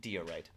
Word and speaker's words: diorite: Magic Toast says, it's actually pronounced diorite.